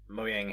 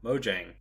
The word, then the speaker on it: Mojang: way to celebrate 116 muang has or Mojang sorry I gotta say it right now Mojang added a 20 minute